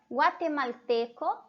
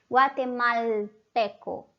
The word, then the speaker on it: guatemalteco: Guatemalteco, guatemalteco. Guatemalteco. A gente só não lê o L como na língua espanhola. Na língua espanhola a gente sempre vai ler esse L, né? Guatemalteco.